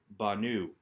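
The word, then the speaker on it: בָּנוּ: Normally, we would expect a verb with a shurik at the end to put the accent on the penultimate syllable so that we would have banu. However, because the hey has dropped, that changes things so that we still get banu.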